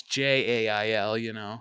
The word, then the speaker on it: gaol: and now it's JAIL. Yeah. Still pronounced the same, jail, but it's Yeah, but it made it fit to our English alphabet and lexicon the way our alphabet sounds.